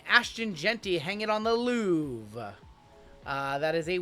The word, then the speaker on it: Louvre: Louvre, hanging on the Louvre. The R is silent.